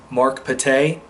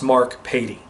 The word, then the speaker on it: Pattay: boss at the pharmacy i stated his name is mark pattay it's actually pronounced mark petey all right so in